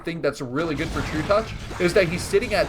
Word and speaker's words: Trutacz: And if you didn't know, that's actually how you pronounce it. It's Trutacz.